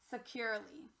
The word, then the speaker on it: securely: securely now my friends the e here it changed from e to a and that's what we call a schwa so our real word is securely moving on read cop